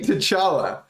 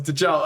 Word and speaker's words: T'Challa: Wakanda forever, like I'm King T'Challa. So the only thing that rhymes with Chala is T'Challa.